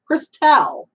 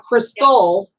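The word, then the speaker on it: Kristel: Christelle, not Crystal.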